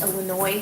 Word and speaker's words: Illinois: Larry would drive Isis and I to Des Moines, and I don't know if Des Moines is like Illinois where you don't pronounce the S, so I'll just say it both ways, and I can be right part of the time.